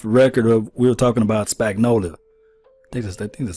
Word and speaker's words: Spagnuolo: Joe, we was talking off the record we were talking about Spagnolia. I think that's how you say his name. Yeah. Spagnolia, yeah.